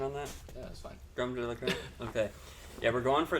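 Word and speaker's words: crème de la crème: How's my pronunciation on that? Yeah, that's fine. Creme de la creme?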